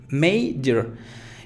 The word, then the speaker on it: major: Bueno, entonces son 2 sílabas en esta palabra, may y luego yer, major.